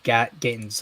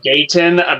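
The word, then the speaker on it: Gatins: You're thinking of John Gatton's. I'm thinking of Dan Gilroy. Yeah, John Gatton. I said John Gatton. Oh, then that's my fault. I called him John Gayton. Maybe I just got his name wrong.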